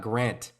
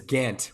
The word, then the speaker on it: Gant: before and I was like it's it's not Grant is it pronounced Gantt yeah yeah yeah dance you know what I guess because there's a lot of Grants out there so I apologize it is Gantt without the r absolutely yeah for sure so